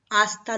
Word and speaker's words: hasta: you later think now hasta luego because h is silent in spanish so you will sound as hasta luego hasta luego hasta luego